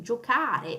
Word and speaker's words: giocare: Giocare, it's got a hard C. Okay, that's the sound that it has is the K sound, not the C sound.